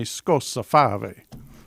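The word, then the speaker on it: Scozzafava: Now, I'm going to pronounce it like my Italian background, but you tell me how you pronounce it. I would say scossa fave, but what would you say? Let's go with that.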